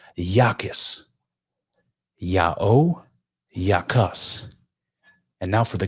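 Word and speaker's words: ΙΑΩ: Iota, Alpha, Omega, I AO, pronounced Yao.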